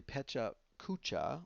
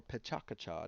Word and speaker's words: Pecha Kucha: flickr is hilarious basically pecha kucha or pecha kucha depending on how you pronounce it is it's a